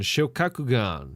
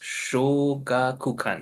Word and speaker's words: Shogakukan: Shokakugan. Shokakugan's the editorial company. Manga One's the app. Yep. And It's pronounced Shogakukan. Yeah, Shogakukan. Shokakugan.